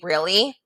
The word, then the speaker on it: really: Really is kind of a tricky one because you might not hear that E sound when you say really. But if you say really, like it should be pronounced, then you can hear it.